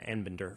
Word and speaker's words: Anbinder: I certainly said Arbinder a little bit earlier, but it's Professor Anbinder from George Washington University.